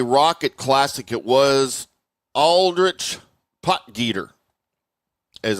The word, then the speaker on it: Potgieter: Aldrich poter as I've been mispronouncing his name for five years. Uh I always thought it was poter but apparently it is poter.